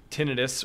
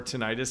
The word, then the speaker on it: tinnitus: anyone who doesn't have tinius or tentis they can be pronounced either way uh for anyone who